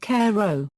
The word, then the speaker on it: carreau: Video, Marco Foyet demonstrates the high lob, carreau, pronounced carreau.